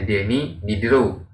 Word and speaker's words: Denis Diderot: Tapi dalam bahasa Perancisnya dibacanya Denis Diderot, ya.